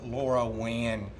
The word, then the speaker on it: LoRaWAN: So the Featherlight uses a system, really it's using a system called Helium, and Helium is based on LoRaWAN technology. That's spelled L-O-R-A-W-A-N.